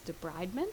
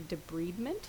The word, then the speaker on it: debridement: the lag phase is debridement. Sometimes in videos you'll hear them say debridement, which is what is the pronunciation in human medicine, but veterinary medicine we universally say debridement.